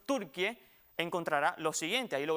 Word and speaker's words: Türkiye: tendrá en cuenta que el topónimo Turquie, que se debe pronunciar así como escuchó, Turquie, encontrará lo siguiente, ahí lo vemos en la gráfica.